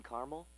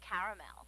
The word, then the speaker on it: caramel: I'd like it in Carmel actually you said Carmel when it's pronounced caramel can't we just call